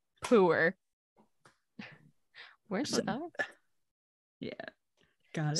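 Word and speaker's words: Pu'er: Puer? I have no idea. So technically it's pronounced puer, which is somehow better. Puer. Like when you go to pour some syrup on your some people pancakes?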